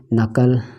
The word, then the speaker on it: knuckle: तरीके से आपका KNUCKLE नकल, ठीक है। तो ये सभी चीज़ें के एन के पहले के नहीं पढ़ा जाएगा शुरुआत में, ये है।